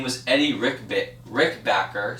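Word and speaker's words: Rickenbacker: was any Rick bit Rick backer sorry Rick backer it sounds just as you spell it he is not do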